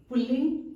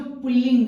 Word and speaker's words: पुल्लिंग: एक बात यहाँ मैं बताना चाहूंगी कि बहुत सारे लोग पुल्लिंग को पुल्लिंग बोलते हैं, उसके उच्चारण में अशुद्धि होती है। तो पुल्लिंग कभी नहीं होता है, जब भी होगा पुल्लिंग होगा। प हरस्वीकार, ल संयुक्त, हरस्वीकार, अनुस्वार ग।